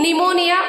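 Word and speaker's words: pneumonia: पी ए पीएस एंड पीटी P will be silent as इन निमोनिया P will be silent okay and इन द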